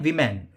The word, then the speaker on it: women: इसको हम बोलते हैं विमेन, वी मैन। और ये सिंगल औरत है, एक औरत, तो इसको हम बोलेंगे वुमेन, वुमेन। ठीक है। तो आप बोलने का जो प्रोनाउंसिएशन है वो बिल्कुल ध्यान रखिए। वुमेन एक औरत, विमेन मल्टीपल औरत।